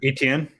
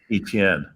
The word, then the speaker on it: Etienne: How do you pronounce his last name? Etienne. Etienne.